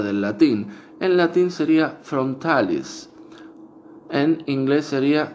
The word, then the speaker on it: frontalis: En latín sería frontalis. En inglés sería frontalis. Porque no le sale, obviamente, igual la pronunciación en el latín a los que hablan el idioma inglés.